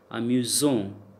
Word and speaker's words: amusant: So, when the letter S appears between two vowels, we pronounce it as J, like amusant, Z sound.